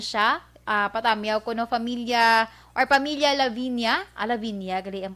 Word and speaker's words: Lavinia: Lavinia, gali ang pag-pronounce ni.